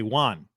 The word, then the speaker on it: one: one w-o-n you say one you do this is true on the game you say one yes you do it's like you're saying wand without the D one one one one